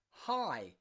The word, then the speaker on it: high: h are both silent think of words like high high up okay high on a mountain high it ends in gh but it's silent often words that are